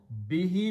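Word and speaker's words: بِهِ: Bihi means of which or about that. So bihi, actual word is bihu, but B is a harf jar, and in the pronunciation, they pronounce he.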